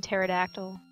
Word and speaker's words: pterodactyl: You could tell she really tried to pronounce the P in pterodactyl.